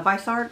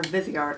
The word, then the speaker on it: Viseart: a swatches on uh they're pronounced a few ways uh visce art or vizart I've heard people pronounce them both ways but when I was